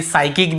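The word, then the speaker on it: psychic: पी से एस वाई सी एच आई सी। यहां पर भी हम देखिए साइकिक पढ़ते हैं।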